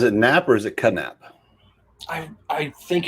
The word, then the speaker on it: Knapp: nap or is it kadnap i i think it's nap i think the k is silent like knife it's knapp anyway is